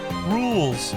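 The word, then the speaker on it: Rouxls: It's pronounced rules.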